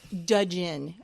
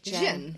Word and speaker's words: gin: He would pronounce it Djinn and Tonic. He always pronounces the D, so like you can a also dumbass.